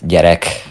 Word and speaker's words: gyerek: Your pronunciation of it is definitely better than my English. That's okay. Yeah, so child, gyerek. Derek.